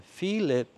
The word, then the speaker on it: Pheelip: I change it to just Pheelip, which is how you would say my name in Cambodian, well, at least that's what my mom would call my name.